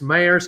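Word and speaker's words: Maher: uh 5 30 on max meyer's channel m-a-h-e-r is how you pronounce that and uh i look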